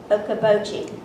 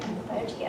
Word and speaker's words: Okoboji: So she's the author of the romantic fantasy novella, A Neapolitan Fairy Tale at Lake Okoboji. Did I say it right? That's right. Okoboji, okay.